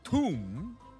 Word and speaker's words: Thumb: Thumb. Pronounced tomb.